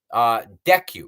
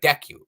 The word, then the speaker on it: Deku: Deku, everybody's like Deku. It would be Deku.